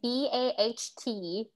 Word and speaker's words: baht: money currency is called bot but yes but uh it's like b-a-t-h but you switch the th so it's b-a-h-t but what did it